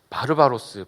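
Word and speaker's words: βάρβαρος: 자 어리석은 자 이런 사람들을 기록되어 있는데요 야만인은 바로바로스 바로바로라는 발음으로 원어가 기록되어 있습니다 헬라 사람들이 듣기에이 사람들의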